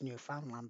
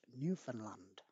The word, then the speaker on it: Newfoundland: is set in gander newfoundland now it says newfoundland but you don't pronounce it like that it's actually pronounced newfoundland okay so which musical is set in gander